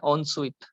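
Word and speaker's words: ensuite: इसका सिनोनिम होता है on sweet.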